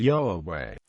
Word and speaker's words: יהוה: The most widely accepted pronunciation of the tetra grammatin is yahe.